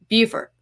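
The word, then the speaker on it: Beaufort: Carolina it's be auau Fort right and it's pronounced bfort here in South Carolina it's pronounced buer so uh just know that when I say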